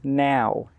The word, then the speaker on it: know: between know, K-N-O-W, and now, N-O-W? So let's look at the pronunciation first. K-N-O-W is pronounced no. No. The K is silent and the W is silent.